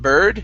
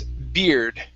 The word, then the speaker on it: beard: up we have uh the word beard right here instead of bird the word is beard beard there you go